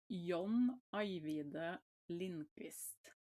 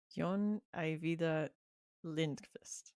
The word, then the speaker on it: John Ajvide Lindqvist: And what was the pronunciation for his last name? Because I've been Oh, it's John Ajvide Lindqvist. Jon Ajvide Lindqvist.